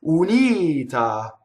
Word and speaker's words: unita: Unita, single consonants, right? So I would practice uia. Remember my surfboard on the vowels. Uia, unita. So how can we do this word wrong? Unita. I doubled the N, I doubled the T. Wrong, right?